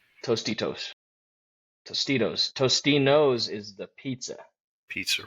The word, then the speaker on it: Tostitos: Tostinos. Tostitos.